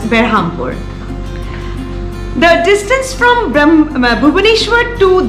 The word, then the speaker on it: Berhampur: the nearest station is berhampur or brahmapur the localites pronounce it as berhampur the distance from bhubaneshwar